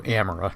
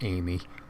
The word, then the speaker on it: Amira: I want to say it was in the AMI orbit. Oh yeah, Amira. Here it is, right here. So Amira, not Ami, or Amy.